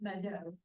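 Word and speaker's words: Meto: It looks like an M-E-T-O and it's pronounced Mado.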